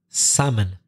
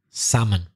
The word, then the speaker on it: salmon: what causes the difficulty salmon that L in the middle is not pronounced salmon everybody knows what salmon